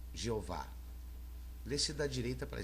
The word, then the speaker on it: Jeová: Esta inscrição hebraica é um tetragrama pronunciado Jeová.